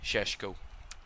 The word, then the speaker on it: Šeško: And Benjamin Šeško is the way you pronounce his name.